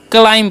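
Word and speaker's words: climb: है बी जो है यहां पर साइलेंट होता है इस बात का आपको ध्यान रखना है क्या पढ़ना है क्लाइम पढ़ना है ओके बी साइलेंस होता है अब देखिए क्लाइम मतलब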